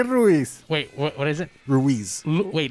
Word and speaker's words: Ruiz: I can't pronounce that. God, the whole night. Say Ruiz. Wait, what is it? Ruiz. Wait, Luis?